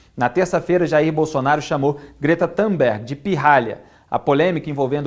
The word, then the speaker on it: Greta Thunberg: O porta-voz da presidência, Otávio do Rego Barros, disse ontem que Jair Bolsonaro não foi descortês ao chamar a ativista sueca Greta Thunberg, a pronúncia é essa mesmo?